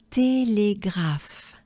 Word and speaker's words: Télégraphe: So, télégraphe.